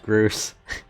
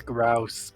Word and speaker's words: Grouse: like altered it greg said don't think it's pronounced grues i like to think of it i know it's grouse but chris is so